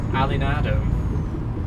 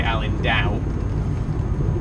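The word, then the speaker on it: Alindao: I was very wrong. It's actually Alan Dow. I got the A and the D the wrong way around there.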